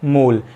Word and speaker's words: mole: अभी सिर्फ आप इतना जाने, क्वांटिटी ऑफ मैटर एक फंडामेंटल क्वांटिटी है जिसकी यूनिट होती है मोल और जिसका सिंबल होता है MOL और स्पेलिंग होती है MOLE।